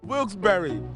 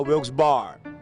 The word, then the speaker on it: Wilkes-Barre: it's a beautiful city wilkesbury is the correct pronunciation this guy just informed me for everybody out there I made a mistake the first time different outfit different answer now I know the correct pronunciation is wilkesbury now Wilkes bar wilkesbury